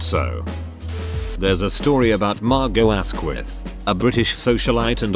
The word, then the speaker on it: Margot: So there's a story about Margot Asquith, a British socialite and author, meeting Jean Hollow and correcting Hollow's mispronunciation of her first name. No, the T is silent, as in hollow.